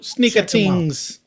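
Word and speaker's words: Sneaker Tingz: That's spelled Sneakers and TINGZ. Sneaker Tings.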